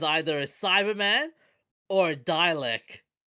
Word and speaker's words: Dalek: Dialect. Okay. A Dalek. You don't watch the show, do you? I watch it at at at the at frequent times. Frequently. Then how could you get the pronunciation of Dalek so wrong?